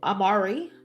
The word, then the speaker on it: Amaru: Tupac Amaru Shakur isn't it Amaru? It's Tupac's middle name and it's pronounced Amaru.